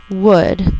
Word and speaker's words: would: the L came from so again the ouu is going to be saying the third sound of oo so it's an exception and there's a silent L would as in I would